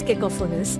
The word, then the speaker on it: cacophonous: to play their instruments to correctly pronounce konus accent the second syllable Q kofos it is